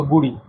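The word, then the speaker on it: K'gari: ठीक है, सो गुड़ी या गड़ी, तो इसको प्रोनाउंस गड़ी करते हैं।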